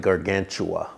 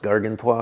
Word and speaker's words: Gargantua: It looks like Gargantua, but it's pronounced Gargantua because it's French, you know.